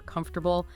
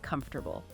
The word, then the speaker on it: comfortable: Trying too hard to say every single letter in words like chocolate or comfortable. Native speakers often drop or blend sounds chocolate comfortable.